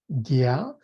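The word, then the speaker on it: ज्ञ: So Bhakti Yoga Prabhu is pronouncing with the long A and the short A and the J N with the tiddly above it is Gya.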